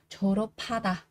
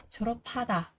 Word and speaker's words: 졸업하다: âm h này thì âm p này nó sẽ được chuyển sang thành là âm bật hơi các bạn nhé. Vì vậy đây các bạn sẽ đọc là gì? 졸업하다, 졸업하다, tốt nghiệp.